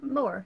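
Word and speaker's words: Moher: Is she Moha over by the Moha? So she's over by the cliffs of Moore. Yeah. But that sounds like Moore. You kinda don't pronounce the H.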